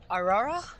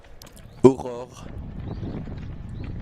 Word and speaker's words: Aurore: Is it Aurora? Aurore. Aurora. Yeah, I mean, how do you pronounce 2 R's. Her. Okay, got it. Aurore. And like, this is a language lesson for me. You know, like ROAR, like the lion.